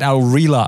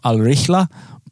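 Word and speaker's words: Al Rihla: Al reala pack and I think that's actually the wrong way to pronounce it uh I said aurela as well when we dropped the ball and people were on to me so I think it's somewhere along the lines of al-richla but if there are any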